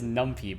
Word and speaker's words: NumPy: Oh, that's why it's a list of numpy arrays. I read it as numpy, but I'm pretty sure it's pronounced numpy.